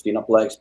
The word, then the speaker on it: FinaFlex: The right way to pronounce it is FinaFlex because it actually refers to a steroid FinaFlex H, which is by it's a veterinary drug that they make Trenbolone out of.